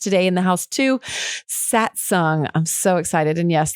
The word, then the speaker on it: Satsang: got a guest today in the house too satsung i'm so excited and yes that's how you pronounce it it's aka satsang stoked okay our shine we're gonna get a